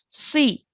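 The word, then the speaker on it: صِ: So when we say it with a kasra, it still needs to have that heavy sound. Okay. Si.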